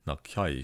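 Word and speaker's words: なきゃ: So if not make, and nakereba has been contracted to nakya, or actually the way it's pronounced if you listen, it's, she says nakyai, she like sloughs it into this initial e sound.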